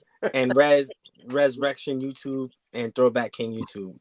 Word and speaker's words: Rezrection: You said Rezrection. I'm like, what the fuck? It's actually pronounced the way King said it, like the way it's spelled. That's how it's pronounced.